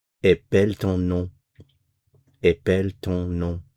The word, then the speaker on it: épelle: Notice the change in the pronunciation of the E. Épelle, épelle, épelle, épelons. So we go from E to E. Épelle, épelons, épelons, épeler, and then back to épelle.